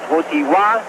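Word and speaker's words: Wojtyła: yet Vila it's w WWA the accent is on the T WWA although you spell it w j t i l a WWA my polish friends have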